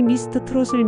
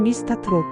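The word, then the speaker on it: 미스터트롯: 볼 수 있고 특히 미스터 트롯을 미스타 트롭 워너원을 와나완이라고 발음하기도 합니다 살면서 유일하게 중독되었던 게임이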